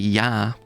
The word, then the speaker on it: Ea: Akkadian roots, because obviously Yah or Yod He is the Amorite or Western Semitic version. The Akkadian is EA. That's usually how it's anglicised. It's pronounced the same, Yah.